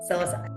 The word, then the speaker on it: psilocybin: MDMA or this, is it how do you pronounce it? You can say Mushroom, psilocybin, whatever. psilocybin.